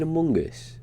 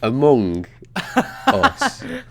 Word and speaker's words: Among Us: having with minecraft you know yeah same with among us have you seen a mungus same with what now uh this game called a mungus a mungus oh like among us among us yeah have you seen that a